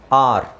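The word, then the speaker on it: are: ಬರೀಬೇಕು ಹೇಳ್ಬೇಕಾದ್ರೆ ಅದನ್ನ ಬಿಟ್ಟುಬಿಡಬೇಕು ಆರ್ ಎ ಅಂತ ಹೇಳೋದಲ್ಲ ಆರ್ okay so E silent ಆಗಿರುತ್ತೆ ಬಟ್ ಬರೀಬೇಕಾದ್ರೆ ನಾವು ಎ ಆರ್ ಇ ಬರೀಬೇಕು ಈ ಹೇಳ್ಬೇಕಾದ್ರೆ ಸೈಲೆಂಟ್ ಆಗಿರುತ್ತೆ ಉಚ್ಚಾರಣೆ ಸೈಲೆಂಟ್ ಆಗಿದೆ ಈಗ ನಾವು ಆರ್ ಎ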